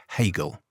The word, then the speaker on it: Hegel: between two rights George or Georg Wilhelm Friedrich Hegel wow victim start Liechtenstein was a very swine